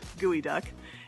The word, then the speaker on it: geoduck: So that is not a bird, it's actually a bivalve that you would find buried in the beach, but it is gooey duck.